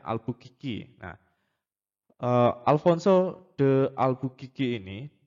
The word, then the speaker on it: Albuquerque: Seperti yang kita ketahui sendiri bahwa di tahun 1511, Alfonso de Albuquerque atau orang-orang banyak yang membaca Albuquerque. Nah, sebenarnya bacanya Albuquerque.